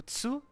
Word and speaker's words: tsu: O tsu, então não tem o tu, no caso é um tsu, te e to.